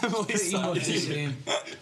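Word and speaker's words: Emeli Sandé: Emeli Sandy. Shout out Emeli Sarnie. However, I Is her name realised- actually pronounced that way? I thought it was Emeli Sande. Yeah, Yeah, okay. yeah. Emeli Sande.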